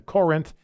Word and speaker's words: Corinth: Let's go to Joseph in Corinth, Mississippi. And that's how you say it, by the way, ladies and gentlemen. It's not Corinth, it's Corinth.